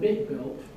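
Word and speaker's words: BitBlt: by alen K uh and this thing called bit built uh that's how you pronounce it where you could maneuver bits of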